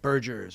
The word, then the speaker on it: Bergers: Am I saying it right, Bergers?